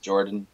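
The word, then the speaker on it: Yordan: closer that Jordan Alvarez spelled with a why they pronounce it Jordan for the youth and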